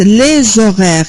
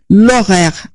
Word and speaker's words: horaire: أنتم لاحظتوا أنا لما قرأتها في الجمع قلت les horaires، يعني عملت رابط ما بين S و O، وكأن الأش غير موجودة. فإذا كان لازم تنتبهوا إلى أن الأش تعتبر أش ساكنة مية. إذا فلا أنطقها، أقول l'horaire الأبوستروف و du train،